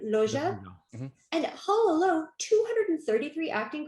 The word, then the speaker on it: Loggia: Well, besides Tom Hanks, Big also stars Elizabeth Perkins, which she was great in this role, and Robert, how do you pronounce his name? Loggia.